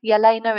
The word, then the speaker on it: Jelena: to get a hold of but um either Jalena yalena it's pronounced but jel Jalena j e l n